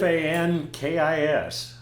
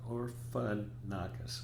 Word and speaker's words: Orphanakis: Orfankis. Close. Orphanakis.